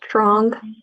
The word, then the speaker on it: Trong: It's Trong. Prong? Yep, Trong.